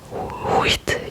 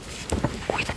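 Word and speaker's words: huit: In French you don't say wheat. You just say wit.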